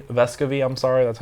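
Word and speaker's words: Vescovi: they get it to a guy named Santiago vascovy vescovy I'm sorry that's how you pronounce it and he is like a 90 free throw shooter or maybe he's like 80 85.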